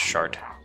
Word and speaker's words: Sartre: get back to work Sartre thought it was you I served in the Mandalorian Wars it pronounced shart you look familiar -